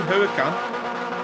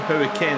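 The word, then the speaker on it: Huracán: Oh, Coops trying to go on the inside, but it ended up hitting Huracan. Or Hurricane, as I pronounce it.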